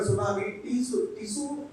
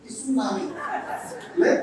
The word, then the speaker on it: tsunami: But in English, first time when we heard tsunami, tsunami. First time. Then only we understood T, you should not pronounce.